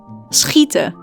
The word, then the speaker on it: schieten: We also have SCH, which is pronounced as a combination of an S and a G sound, like in the word schieten, schieten.